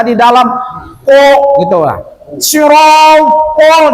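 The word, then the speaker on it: صراط: Sirotol, jangan sirotal.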